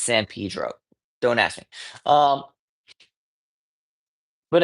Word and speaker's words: San Pedro: It was in San Pedro. Um, and yes, that is the local pronunciation. I'm aware it's San Pedro, but we're from LA. It's San Pedro.